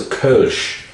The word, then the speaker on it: Kölsch: This is a Kölsch called, in fact no, it's a Kölsch, because it's got an umlaut over the O.